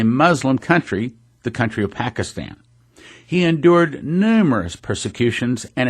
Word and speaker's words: Pakistan: try doing it in Pakistan by the way I'm pronouncing that wrong he corrected me it's Pakistan three hundred churches he